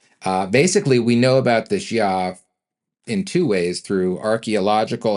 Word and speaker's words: Xia: to get through the Xia dynasty. Did I say Xia? I meant Xia. That's spelled Xia, confusingly enough.